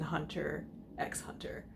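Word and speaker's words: Hunter × Hunter: Yes, I am actually one of the people that pronounce the X in Hunter, X-Hunter, but I digress.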